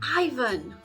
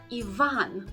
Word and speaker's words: Ivan: you need to say Ivan and the stress goes on the second syllable not the first our third example is